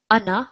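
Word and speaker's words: أنا: are not meaning i it it basically is pronounced as ana rather than an R so we do not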